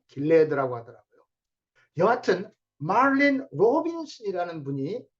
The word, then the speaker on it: Gilead: 길앗에는 유향이 있지 아니한가? 그곳에는 의사가 있지 아니한가? 딸 내 백성이 치료를 받지 못하면 어찌 됨이고? 우리는 길앗이라고 발음하는데 영어로는 길리아드 이렇게 써놓고 발음은 길레드라고 하더라고요.